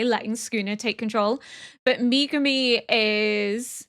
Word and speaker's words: Megumi: Everyone's saying stress the ME like Megumi, but I don't know.